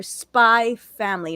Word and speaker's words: Spy x Family: We got a season 3 confirmation of Mob Psycho 100, and we got an anime confirmation for Spy Family, not Spy X Family. The X is silent.